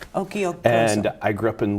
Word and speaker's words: Occhiogrosso: It's Occhiogrosso, like Pinocchio. Okay. Occhiogrosso. Occhiogrosso.